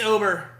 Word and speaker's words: Ober: It's Ober, right? Not Uber.